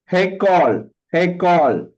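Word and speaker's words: היכל: और दूसरा first pronunciation, sir please tell me. Haykawl.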